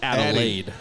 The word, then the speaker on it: Adelaide: I need you to say it properly. It is Adelaide. Oh, Adelaide.